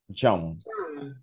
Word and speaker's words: jump: Es como la U si fuera la A. Jump.